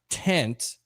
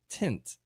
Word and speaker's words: tint: It's not tent, it's tint, right?